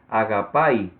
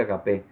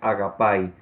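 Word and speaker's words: ἀγάπη: Y bueno, usted puede ver ahí donde dice ortografía fonética cuál es la forma correcta de pronunciarlo, que sería agapai. Ya yo lo pronuncié mal, ¿verdad? Cuando dije agape. Así es como se escribe en español, pero la pronunciación correcta es agapai.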